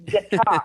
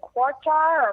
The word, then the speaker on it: Qatar: That I heard guitar. Good. That's what I said. Like all of them said, you say it like a guitar, but it's guitar.